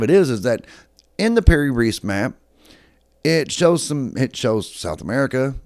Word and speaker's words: Piri Reis: Then we look at things such as the Piri Reis map.